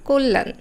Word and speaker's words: কল্যাণ: সঠিক উচ্চারণটা হচ্ছে সত্য আবার কল্যাণ নয় কল্যাণ আবার অ এর পর খিয়